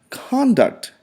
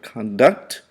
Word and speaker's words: conduct: and we also have conduct, used as a noun. Notice that the pronunciation changes from the verb conduct to the noun conduct.